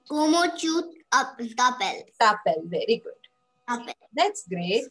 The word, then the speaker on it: t'appelles: is not pels. Okay, you are not going to say pels. You are not going to pronounce S. Okay, that will be wrong. I will say no to yes. Okay, so you are going to say tapel.